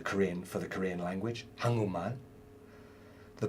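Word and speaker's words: 한글: You could say that, but no one does in Korea. They say hangeul.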